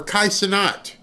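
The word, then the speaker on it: Kai Cenat: Speed or Kai Sonat if I say his name wrong.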